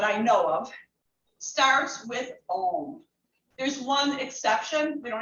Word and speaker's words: Om: It has 3 syllables. O, U, M. So I want you to just start with that for a moment. Om.